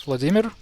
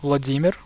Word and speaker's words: Vladimir: unquote, of Russia, it's Vladimir Putin. So Vladimir, but you always say Vladimir. Okay, I get this. You are used to putting the emphasis on the first syllable, right? So Vladimir becomes Vladimir.